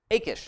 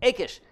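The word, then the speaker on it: Achish: Philistines are and and I wrote down a Koosh not again I said it wrong a Kish King a Kish of gas here's David's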